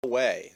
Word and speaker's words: Huawei: Huawei. That's how it's pronounced, even though in English it doesn't seem to make sense.